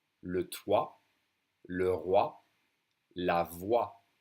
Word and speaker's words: voix: The voice is la voix. Le toit, le roi, la voix. And the X silent, just like the T.